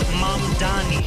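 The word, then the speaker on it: Mamdani: And furthermore, the name is Mom Dani.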